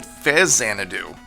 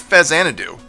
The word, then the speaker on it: Faxanadu: I always used to pronounce it Faxanadu, but as I grew older, I'm pretty sure it's called Faxanadu. Why? Well, it's supposed to be a combination of an old Japanese PC RPG series known as Xanadu and Famicom, so Faxanadu.